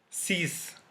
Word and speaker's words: six: are two numbers, like six, sex, six. So in here it is pronounced as s.